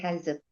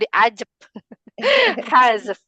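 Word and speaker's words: حذف: Di hazf. Iya pakai ha ya. Hazf. Jadi bukan dijep hazf.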